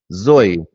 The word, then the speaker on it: Zoe: z o e and how do you pronounce Zoe zoy yeah in Russian